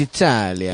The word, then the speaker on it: Italia: It's Italia. Italia. Alitalia. That's how it's pronounced in their language.